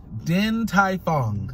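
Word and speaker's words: Din Tai Fung: know it i just don't know how to pronounce it all right wait let me try try okay din tai fong yes i said it right yes okay 100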